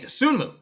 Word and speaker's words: Dosunmu: or less exactly I really like hey yo dosunmu I assume that's how you say his name dosunmu yeah yeah nice nice all right I was